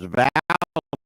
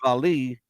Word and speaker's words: Vallee: that Thomas Arthur Vallee, and that's how his name is pronounced. I thought it was Vallee, but Mhm. it's Vallee.